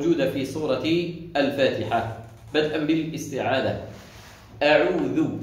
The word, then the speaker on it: أعوذ: أعوذ، لاحظوا معي، أعوذ وليس أعوذ، أعوذ. الهمزة مرققة، الهمزة مخرجها منين؟